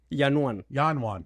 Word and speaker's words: Yanuan: So I'm going to let you pronounce your name, but I think it's Yanuan. Yanuan.